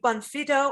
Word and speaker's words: Bonfitto: good taste dot info we're to welcome carrie bonfido on the show oh now carrie did i pronounce this correctly you got it carrie did